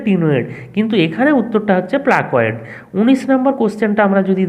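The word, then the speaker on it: placoid: তার মানে এখানে উচ্চারণটা হবে প্লাকোয়েড আঁশ।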